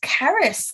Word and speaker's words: Charis: Charis, how would you pronounce that? Charis. I think it's Caris, like the Welsh.